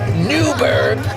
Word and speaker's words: Newburgh: Let me pronounce that again, Newburgh in general.